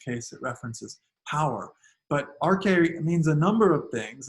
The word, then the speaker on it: arche: want to talk about the rk and so um i don't have that written down here but it's spelled a-r-c-h-e in the transliteration from greek to english and that's really the